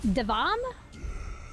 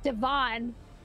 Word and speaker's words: Devon: we have this one how is that one pronounced devom that's reasonable okay all of those sounds are in those letters there's no damn r in kirk non-chicago people call it devin don't you dare call it devin it's devon cassio here we go i